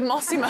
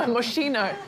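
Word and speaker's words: Moschino: week no points paid in the frame it's pronounced mossimo is it massimo it's not massimo moshino slightly higher end isn't it yes heading to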